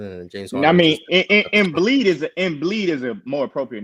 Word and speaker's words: Embiid: I mean, Embiid is a more appropriate name, Mars.